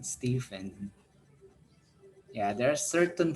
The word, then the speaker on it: Stephen: yeah this one is michael and stephen not stefan stephen yeah there are certain pronunciations that are different like for example my